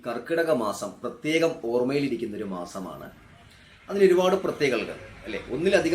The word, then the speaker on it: കർക്കടകം: ശരിക്കും കർക്കടക മാസം എന്നാണ്, കർക്കടകം എന്നാണ് ആ മാസത്തിനെ നമ്മൾ പറയാറുള്ളത്, വിളിക്കാറുള്ളത്. അങ്ങനെയാണ് വിളിക്കേണ്ടത്.